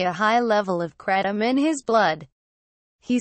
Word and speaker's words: kratom: the leaf of a Southeast Asian plant kratom pronounced kratom is touted as an energizer potent pain reliever